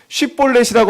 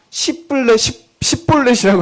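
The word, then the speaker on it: שיבולת: 발음. 쉿볼렛이라고 하면 그냥 이스라엘 지파고, 십볼렛이라고 하면 쉿볼렛 말고 십볼렛이라고 하면 에브라임이다.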